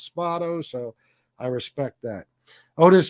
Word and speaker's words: Spado: with oris ori spado i always pronounced it spato by the way but he says it's spotto so i respect that